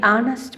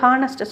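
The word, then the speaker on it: honest: இதில் என்ன இன்னும் நோட் பாயிண்ட் குறிப்பு என்னென்னா தி ஆனஸ்ட் மேன், தி MLA. இது பார்த்திங்கன்னா தி ஹானஸ்ட் மேன் சொல்லும் போது ஹானஸ்ட்டு சொல்லக்கூடாது, சரியாக ப்ரொனவுன்ஸ் பண்ணும்போது ஆனஸ்ட் HOUR சொல்கிற மாதிரி ஆனர். அப்போ ஹானரபிள் அப்படின்னு சொல்லும்போது இல்லை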